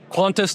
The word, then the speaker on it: Quantis: It's Quantis Toolworks. You said Quantis. Quantis. Quantis like like almost like Quantum like Quantum quantifiable metrics. That's where the name comes from.